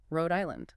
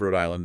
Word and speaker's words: Rhode Island: And finally, Rhode Island. The stress is on the first syllable of the second word.